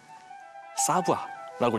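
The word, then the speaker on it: savoir: 저 읽으면은 사부아라고 읽으면 돼요.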